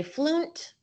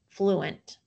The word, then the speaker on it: fluent: So I'm going to try out that last syllable division principle. And I have an open syllable, flu, and a closed syllable, ent, fluent.